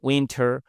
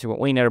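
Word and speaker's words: winter: আমেরিকানরা এখানে টি বাদ দিতে পারে, ঠিক আছে? আপনারা অনেক সময় উইনার বলবে। ইন উইনার টির উচ্চারণ অনেক সময় থাকে না, ঠিক আছে? এটাকে বলা হয় ফ্ল্যাপ টি।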